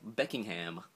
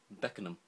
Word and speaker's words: Beckenham: Makes you laugh, in the same Beckham, like Beckingham. It's Beckenham. Beckenham. That's what we just say. We say Beckenham.